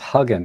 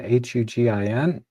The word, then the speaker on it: Hugin: And you can use a free software called, I think it's pronounced Huggin, Hugin.